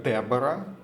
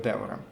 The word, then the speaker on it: Девора: Иногда ее переводят как Дебора, то есть это в большей степени такой англоязычный вариант, где она пишется как Дебора, в конце еще буква H пишется. Но в русском переводе литературном ее называют Девора.